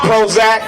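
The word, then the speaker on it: Prohoezak: say money money my name is Prozac that's p r o h o e z a k is spr pro hoac but the ho is silent cuz the power's in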